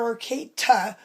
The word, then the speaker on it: Arcata: arcade to co-op in Arcata California which is spelled with a t I'm not talking about Arcadia I'm talking about our Kate with a t and